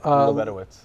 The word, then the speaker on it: Lebedowitz: Osip Lebedowitz.